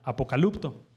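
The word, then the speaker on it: ἀποκαλύπτω: según el diccionario griego es una palabra que se pronuncia apocalipto Qué quiere decir quitar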